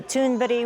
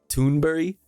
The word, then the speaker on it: Thunberg: Swedish activist Greta Thunberg was among the protesters.